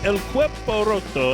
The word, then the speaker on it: El Cuerpo Roto: on location in Old Town Spring, Texas at El Cuerpo Roto. We'll be right back. Welcome back. It's Smoking and Toasting. We are on location, my friends, at El Cuerpo Roto.